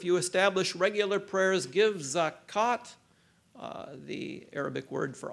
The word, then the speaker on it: zakat: establish regular prayers give zakat uh the Arabic word for alms uh as most theologians would uh concede it's a lone word it's pronounced zakat but it's actually spelled zakut if you uh know